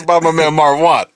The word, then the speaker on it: Marv Won: I say Marv Won, but I know I'm not saying it correctly because it's it's spelled Marv. I thought he was Hispanic at first. No, it's not. I just like him saying it like that. It's one, like as if you won a game or like as in Marvin you're a winner.